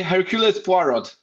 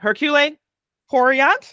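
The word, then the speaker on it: Hercule Poirot: or as usual usually people in America say Hercules porot okay okay Hercule porot PUO what was that character gonna be available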